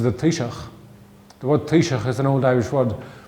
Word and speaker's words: Taoiseach: The word Taoiseach is an old Irish word, but pronouncing Taoiseach, it has a ch sound at the end of it.